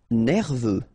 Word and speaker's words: nerveux: Nerveux. Final X not pronounced. E-U, E, V, nerveux.